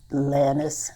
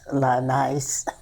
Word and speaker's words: Lanice: combination of their names it's La for Lawrence and n-i-c-e for U.S them and it often is pronounced lannis La nice interesting the pronunciations do